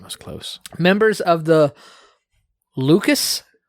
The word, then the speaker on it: Lucchese: Members of the Lucas, but it is not spelled like Lucas. How do you spell it? Lucchese crime family. LUCC. Sounds like Lucas.